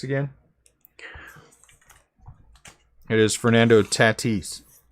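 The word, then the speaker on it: Tatís: about the pronunciation of tatis again it is fernando tatis it is fernando tatis it is not tati's if you say tatish you are pretentious and no one can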